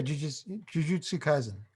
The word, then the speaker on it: Jujutsu Kaisen: fit in a box for the poll, and Jujutsu Kaisen. Is that how you pronounce it, John? Yeah, Jujutsu Kaisen.